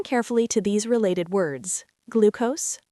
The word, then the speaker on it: glucose: First, glucose. It's pronounced glucose with a long oo sound, like in the word blue.